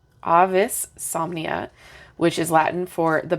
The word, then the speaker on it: Avisomnia: Wands so AIS somnia Ah that's how you say it Avis somnia which is Latin for